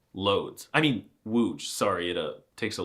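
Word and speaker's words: Łódź: Anyway, I guarantee you can pronounce it without my help. Give it a try. Seriously, say it out loud. If you said wooge, you're correct. Congratulations. See, it was easy. But if you said loads, you need to get yourself checked out.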